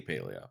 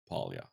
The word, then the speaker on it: Palia: want to say it like they they say paleo but I say polia that's um and I